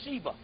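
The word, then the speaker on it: Siva: S I v a but it's pronounced Shiva and it's made shock te and all too.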